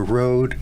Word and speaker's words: Rhode: And if people want to donate to the West and Rhode Riverkeeper organization, where can they find out more information?